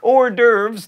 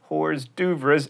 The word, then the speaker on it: hors d'oeuvres: like quinoa and quiche hors d'oeuvres not dovers and penne not pen